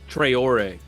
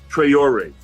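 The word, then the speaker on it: Traoré: Trayor. Trayor.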